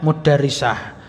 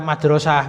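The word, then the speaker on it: مدرسة: Jadi bacanya mudarrisah. Ya meskipun boleh dibaca madrasah, berarti dia mungkin lagi duduk-duduk di depan sekolahan kan itu. Nah, tapi ini bukan. Ini artinya mudarrisah.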